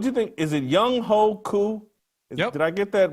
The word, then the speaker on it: Younghoe Koo: Is it Younghoe Koo?